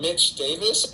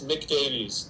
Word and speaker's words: Nick Davies: would be really like they call him Mitch Davis and it's Nick Davies but people have said